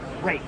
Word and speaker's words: Ruike: Root? Rake. Rake. Like you're raking the yard.